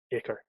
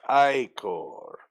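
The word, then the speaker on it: ichor: guess it would be it wouldn't be ick or presumably it's not the acor icker it's just it it's pronounced i-core whatever i understood that reference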